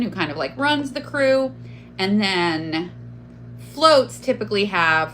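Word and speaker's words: krewe: If you don't know, Carnival is organized into crews, which are the clubs, and each crew, and it's pronounced as though it were spelled C-R-E-W, but it's actually spelled here K-R-E-W-E.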